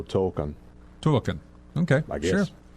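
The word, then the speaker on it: Tōkon: Tokon? Spell it. Okay, well, it's T-O-K-O-N, but the first O has a dash on the top of it. Extended O, Token.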